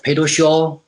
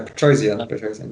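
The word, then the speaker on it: Petrosyan: And George Pedoshaw. Oh yeah, no, Petrosian, yeah, thank you.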